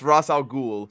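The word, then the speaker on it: Ra's al Ghul: making a short video of explaining why it's rossal ghoul and not re I still will probably make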